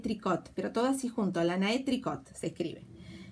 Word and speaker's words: Lana et Tricot: Lana et Tricot, pero todo así junto, Lana et Tricot se escribe.